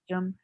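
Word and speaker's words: शौचम्: And then when there is a and a U next to it, it becomes so, show. So shaucham or shaucham, pujanam, Shaucham. shaucham. Yeah, the correct pronunciation is shaucham actually.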